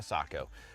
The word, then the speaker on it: Sako: notifications the seiko s20 is a fairly new rifle offering from seiko or sako obviously here the united states pronounce things a little bit differently but it is ultimately a sako so with this this